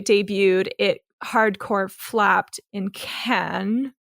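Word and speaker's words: Cannes: it hardcore flapped in Ken that's how it's supposed to be pronounced a mixture of Ken and can which is which is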